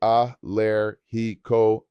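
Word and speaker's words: alérgico: I am allergic to is soy allergic a pronounce soy a lair heo a.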